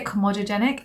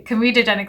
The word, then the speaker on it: comedogenic: the com comedogenic scale I always say kenic and I don't know why I say that it's comedogenic scale my dad was watching one of my videos he was like Nita can you just say it properly so I'm like yes we're going to say it properly comedogenic scale which means that it's